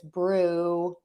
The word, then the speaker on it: Bruegger's: And in that case, it's Bruegger's. But that's how you pronounce burger.